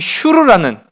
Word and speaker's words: 슈르: 그러니까 이 슈르라는, 성경 속에는 술이라고 이제 표현되어 있지만은요, 슈르 이렇게 이제 발음을 해요.